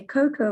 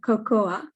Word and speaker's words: cocoa: says cacao the only reason in english we say coco is because there was a 17th century typo in one of the saks that came from south america and instead of spelling it cacao it's spelled cocoa so since then english people say coco spanish and the rest of the world say cacao and but nowadays cacao